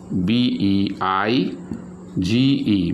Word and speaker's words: beige: i is there here but it produces which sound a sound sound like a this sound like a a sound beige okay a sound next